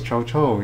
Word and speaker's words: Cao Cao: Or you speak Cantonese, Cho Cho, yeah. So like every dialect, like everyone pronounces differently. I'm sure there's the most proper way. The Mandarin way is the most preferred proper way in China, but yeah, I think it's Cao Cao in China.